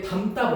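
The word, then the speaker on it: 담다: 일단 저 4번 기역에 담따 볼래? 담따가 지금 기역이래. 자, 어감 받침 니은 또는 니은 지읒, 미음 또는 리을 미음 뒤에 결합하는 어미의 첫 소리 그드스즈를 된소리로 발음하는 조건이래.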